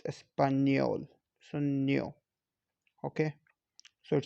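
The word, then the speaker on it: español: it sounds new espanol not no not espanol it's espanyol so new okay so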